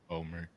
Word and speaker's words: Bomer: Yeah, Bomer. That's how you say his name.